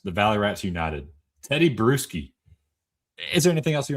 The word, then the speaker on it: Bruschi: This guy's name is Teddy Bruschi, B R E W S K A S K I. Spelled like beer, you know, a brew.